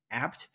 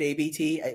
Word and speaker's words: Abt: is and it's it's it's spelled ABT it's pronounced apt and the you know as a as a Chicago resident I have I've always said ABT in my head it just but it's apt okay it's apt anyway